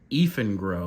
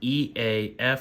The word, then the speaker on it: Eafengrow: is by a company called Eafengrow, or at least that's how I pronounce it, spelled E-A-F-E-N-G-R-O-W. So to me, that says Eafengrow.